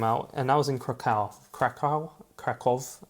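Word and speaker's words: Kraków: and I was in cal cal kov that's a kov that's how you say it in Polish I don't know how you say it in English properly um old Spider-Man drawing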